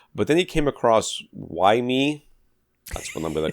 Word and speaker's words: WiiM: But they want us to say WiiM. That's how they say it.